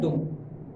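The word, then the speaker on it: don't: डोंट। आई डोंट, यू डोंट, वी डोंट, they डोंट, the boys डोंट, etcetera T पूरी तरह pronounce नहीं होता है।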